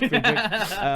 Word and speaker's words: Friedrich: I I wrote Friedrich but because I don't know how to spell it, but it's Friedick.